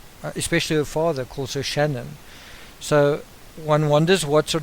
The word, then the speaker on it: Shan'ann: bit of discussion around Shannon and and she says you pronounce it like shenanigans and what's quite interesting